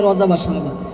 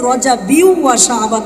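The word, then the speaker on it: رجب وشعبان: শাবান আপনি বলছেন রজাবি বাংলাদেশের 90 90% বক্তারাই বলে রজা শাবান কিন্তু এটা ভুল সঠিক উচ্চারণ হচ্ছে রজাবিউ শাবান চিল্লায়া বলুন ঠিক কিনা কারণ গয়ে মুনসারে হালাতে জ্বরে কখনো কিন্তু এটা তো গয়রেন নয় এজন্য জের অবস্থায় তাকে জের দিতে হবে ইনশাল্লাহ আর দুই তিন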